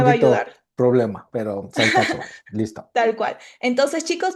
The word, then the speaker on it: Saskatchewan: problema, pero Saskatchewan.